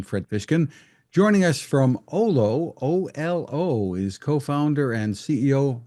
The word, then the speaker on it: Olo: an overview of what Olo is I hope I'm pronouncing it correctly L yeah that's right ol it's it's actually a Finnish word meaning feeling and being so we